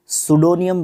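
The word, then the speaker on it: pseudonym: सबसे पहली बात तो ये है, इसको सुडोनियम बोलते हैं प्रोनाउंसिएशन के हिसाब से।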